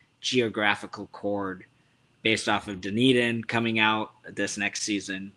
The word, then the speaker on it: Dunedin: I'm a good friend of their merchandiser in Dunedin. I pronounce it wrong. Dunedin. Eden. There we go.